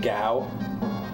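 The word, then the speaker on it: Gau: that comes like later pronounced like GW you pronounce it like you did oh so I pronounced it right okay that's what I used to say as a kid but I didn't know how to pronounce it rhymes with cow so it is G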